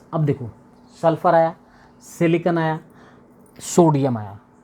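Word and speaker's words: silicon: पता हम लोगों को तो हम लोग सिलिकन जो उसकी स्पेलिंग है उसके थ्रू क्या बोल देते हैं सिलिकॉन सिलिकॉन बोल देते हैं but that is नॉट the right pronunciation right pronunciation इ सिलिकन ओके सिलिकन के बाद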